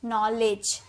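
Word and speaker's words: knowledge: ना इसे हम ज इसे लेड ज नहीं बोलते इसे लेज बोलते हैं लेज नॉलेज ज का साउंड आता है और डी को भी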